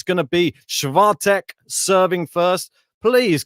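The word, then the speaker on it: Świątek: it uh justice so wait and see on that schwa tech uh yeah i believe that's the correct pronunciation i'll get it right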